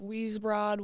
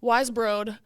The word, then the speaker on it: Weisbrod: always say it wrong I hear like we broad we bro yeah I don't really care I don't really at this point I'm just like sometimes I forget how to say it like people ask me and I'm like I don't I don't know but yeah wise bro wise bro yep the junior guard